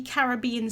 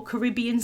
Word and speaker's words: Caribbean: This is the Caribbean Sky Pigment Ink, or Caribbean Sky if you're not British, that's how you would pronounce it.